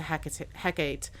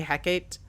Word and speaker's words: Hecate: There's multiple pronunciations. I'm going to say Hecate, but it could be pronounced Hecate, Hecate, Hecate, Hecate, Hecata, literally, there's so many different pronunciations for her, and I pulled them